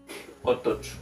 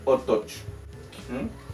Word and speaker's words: otoch: Otoch. Muy bien, también ustedes pueden ahí en su casita repetirlo. Otoch.